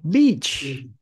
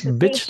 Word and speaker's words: beach: đ B bãi biển các bạn nghe chên này không beach Ok các bạn phát âm đi những bạn mà yếu tiếng Anh á ph tử gì Đừng có bit bitch là con chó cái to the beach D